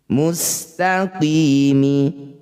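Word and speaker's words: مستقيم: Cara bacanya qi, panjangkan 6 harokat, huruf terakhir sukunkan. Mustaqimi, saat berhenti mustaqim.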